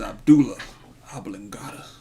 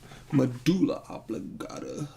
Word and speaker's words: medulla oblongata: I would have shot him in his Abdullah oblongata. Medulla oblongata. Is that saying it right?